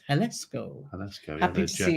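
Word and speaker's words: Jalisco: yeah the J because the J sounds like a h time Vicky same bridges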